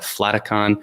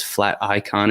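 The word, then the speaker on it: Flaticon: to pronounce this I've I've always called it flaton not sure if it's flat icon is the proper way to say it but it's just an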